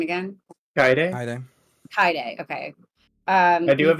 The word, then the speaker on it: Kaede: And go to combat and sorry, how do I pronounce her name again? Kaede? Kaede, okay.